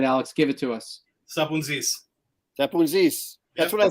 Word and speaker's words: Sapountzis: Sapountzis.